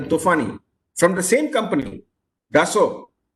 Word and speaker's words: Dassault: In the early 50s, we acquired the Tufani from the same company, Dassault. It is spelled D-A-S-S-A-L-A-U-T, Dassault, but pronounced as Dassault, like for normal French pronunciation.